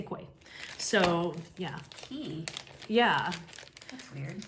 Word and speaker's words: Quay: quay sunglasses which um as somebody pointed out that it's actually pronounced key but i am american and i'm just going to say koi so yeah yeah that's